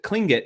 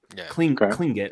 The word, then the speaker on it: Tlingit: I think it's a kinget and that's spelled with t l i n g Tlingit or clink it I've heard so I apologize if I mispronouncing it um uh and there